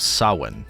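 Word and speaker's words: Samhain: Halloween primarily traces back to the ancient Celtic festival of Sin. And I'll put the spelling of this on the screen because the spelling looks nothing like the pronunciation.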